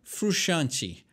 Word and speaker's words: Frusciante: a gente daquela encolhidinha não se fala todas as letras do nome do rapaz John frusciante Esse é o jeito de pronunciar o nome dele que que ele tá